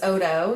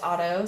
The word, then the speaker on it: Odo: It is Odo. Usually it is pronounced Otto, so props to you.